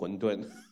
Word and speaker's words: 混沌: Yeah, just say Hun Dun.